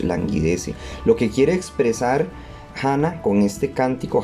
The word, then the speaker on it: Hannah: lo que quiere expresar gana con este cántico hannah que realmente se pronuncia no se dice anna si se gana es que ella estaba